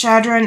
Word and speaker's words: Chadron: I believe it's pronounced Chadron. It's Chadron.